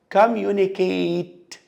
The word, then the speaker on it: communicate: لو هي نهاية verb هتبقى لونج A هتتنطق 8. communicate.